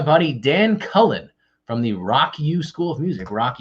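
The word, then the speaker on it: Rawk U: Tuesday with my buddy Dan Cullen from the Rock U School of Music. Rock U is spelled R-A-W-K space U.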